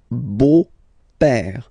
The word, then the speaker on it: beau-père: Okay, so père, okay, father, so father-in-law, okay, in French it's le beau-père, the beautiful father. Le beau-père. So remember this E-A-U combination of vowels only give you the sound O, beau, okay, le beau-père.